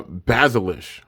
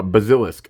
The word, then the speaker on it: Bazilisk: Hydra kerbius and fierce uh basilish I think that's how you say it or is that a k the H and K are so similar to text wise uh basilisk okay Fierce basilisk oh that's an